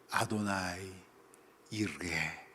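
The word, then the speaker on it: יהוה יראה: 수 있는 쉬운 단어입니다 아도나이 이르게 원래 히브리 말로 이렇게 발음을 합니다이 단어를 지역을 하면 오늘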